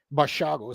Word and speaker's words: Basiago: Now, Basiago was a child at the time, according to his Basiago is how you pronounce it.